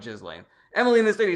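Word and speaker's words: Ghislaine: East meets Wesy Bessie says it's French and proper pronunciation is gain no s long e gain galain gain gain all right gain gilane I still like jizzlain Emily in the state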